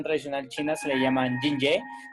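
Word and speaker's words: 津液: En medicina tradicional china se le llaman Jinye. Recuerden que la J y la I se pronuncia Jin, entonces se llaman Jinye.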